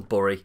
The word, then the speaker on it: Burry: none other than michael bury if for any reason you don't know this guy who's surname rhymes with your favorite dessert at mcdonald's then he was actually